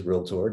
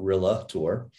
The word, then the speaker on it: realtor: pronunciation of realtor um which again is real tour not really tour so go tell your